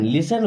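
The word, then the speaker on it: listen: मतलब कभी तो लिसन लिसन वर्ड में दोस्तों टी साइलेंट है डू एवर लिसन कभी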